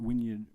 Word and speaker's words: Wynyard: and thoughts so uh the fact that wyard rhymes with Bard and we have a